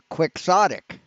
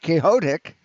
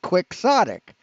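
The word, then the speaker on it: quixotic: impossible you know plan is quick sodic it's not chaotic it's quick sodic what the [ __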